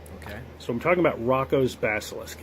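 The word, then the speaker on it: Roko: So, I'm talking about Rocco's Basilisk. And yeah, I pronounce it Rocco.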